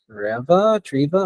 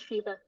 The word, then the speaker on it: Shiva: I believe it is Treva. I'm not really sure how to pronounce that. Are you here? Hello, I'm here. It's Shiva.